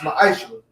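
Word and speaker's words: ma'aser: It means 10th in the Hebrew, and it's pronounced ma'aishra.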